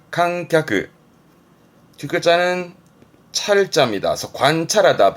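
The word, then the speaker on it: 観客: 칸갸크, 칸갸크. 뒷글자는 찰자입니다. 그래서 관찰하다.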